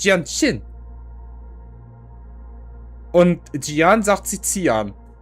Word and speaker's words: Jianxin: Dann hast du Xianxing falsch ausgesprochen. Das heißt nicht Xianxing. Warum ist da ein Z? Da steht ein J, die heißt Jianxin.